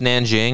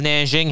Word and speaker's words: Nanjing: not much of China I think this is pronounced Nanjing I don't know sounds about right but in